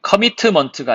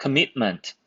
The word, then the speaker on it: commitment: commitment가 아니고요. commit 끊고 ment입니다. commitment 이렇게요. 그 다음은 counterbalance고요.